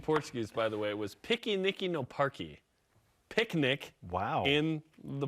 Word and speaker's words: piquenique: by the way, was piquenique no parque. Picnic in the park. How do you say it? Piquenique. Piquenique? No, in the Okay. parque. Oh, it just sounds like no picnic in the park.